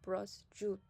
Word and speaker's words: prosciutto: Tip number 6 is how you say she. So this is a SCI combination, and this platter that we see below is called prosciutto. Prosciutto.